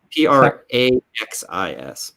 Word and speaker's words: praxis: sorry but i i i'm maybe i didn't pronounce properly but i i meant practice not practice practice oh p-r-a-x-i-s yes praxis it's a different thing from practice